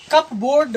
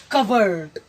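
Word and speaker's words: cupboard: सूत्र है, फॉर्मूला है कि जब PB या PB या PT एक साथ हो तो P साइलेंट रहता है, तो इसे पढ़ेंगे हम कप बोर्ड न पढ़ करके कवर्ड, कवर्ड।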